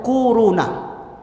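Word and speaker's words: كورونا: Corona bacanya tuh kuruna.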